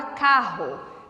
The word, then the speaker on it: carro: RR na palavra carro. Carro. Eu escrevo 2 R's, mas na pronúncia, fonologicamente, é como se eu tivesse um R só.